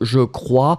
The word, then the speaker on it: je crois: So je crois, C-R-O-I-S. Je crois, final S not pronounced.